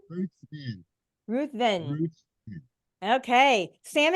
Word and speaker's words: Ruthven: do you say your last name Ruth V Ruth Vin Ruth Vin Ruth okay Sam and John are